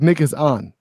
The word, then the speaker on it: Nikon: agree Panasonic Lumix and how do you say it nickel Nikon Nick owns it's like Nick is on Nick home bob squatches